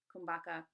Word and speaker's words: kumbhaka: Usually you'll hear, so yoga, you'll hear it called yog, pranayama, pranayam, asana, asan, kumbhaka, kumbhak, bandhas, band.